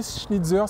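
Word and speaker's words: Schnitzer: 2019 OK et donc ass schnidzer c'est comme ça que ça se prononce c'est un préparateur oui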